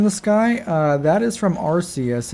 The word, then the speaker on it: Arceus: A Cruce? Not Arceus, it's a Cruce. Oh, am I pronouncing it incorrectly? I've always pronounced it Arceus. Is it not Arceus?